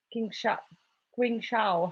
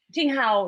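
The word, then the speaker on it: 青蒿: have to take it Qing Shao. How do you say Artemisia in Chinese? Qing Shao. Something like that. Qing Hao, yeah.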